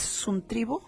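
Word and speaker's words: συντρίβω: Sí, dice que quebrantar es suntribo, así se pronuncia, suntribo, del griego 4862 y la base del griego 5147.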